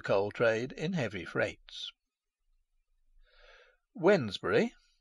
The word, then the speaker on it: Wednesbury: aid to the coal trade in heavy freights wednesbury pronounced wedge brewery and spelt whitner's berry in domesday book stands